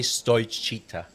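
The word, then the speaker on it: Stoichiță: I would say Stoichita. Stoichita. Yeah. But I think the emphasis could be not the ta. I think if you go chita, it's more Spanish than Eastern European.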